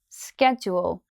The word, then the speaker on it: schedule: school so does schedule schedule so the first syllable of schedule sounds like the word school now for the second